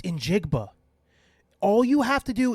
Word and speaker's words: Njigba: It's Injigba.